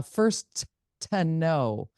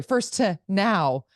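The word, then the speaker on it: Furstenau: zusman that said the the green party lead leader would like to change the way her last name is pronounced it is now first to know first sorry first to now shoot I just did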